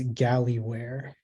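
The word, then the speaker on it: gallyware: um sorry 69 all right uh just give me a second um all right uh your word is galley where golly where could you repeat the word uh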